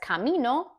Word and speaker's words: camino: Whereas camino, the stressed syllable is camino, me.